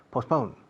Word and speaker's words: postpone: La T es muda. Postpone. Okay, posponer.